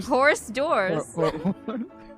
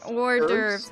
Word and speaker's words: hors d'oeuvres: was just filling up on how do you pronounce that? Horse Hors dirt. Horse divorce. Order. Horse doors. Horse door. Horse doors. Horse dwarves? It's order. Hors Horse d'oeuvres. d'oeuvres? Oh yeah. No, order. Hors d'oeuvres.